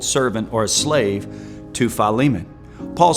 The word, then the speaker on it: Philemon: Most of the time mispronounced by everyone that ever quotes it, Philemon. But Philemon, which is only one chapter, verse 15.